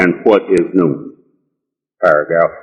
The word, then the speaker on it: Noone: And Noone, which is spelled N-O-O-N-E and indeed pronounced Noone, is the science of sound right reason, who is definitely the best mind of the one supreme being.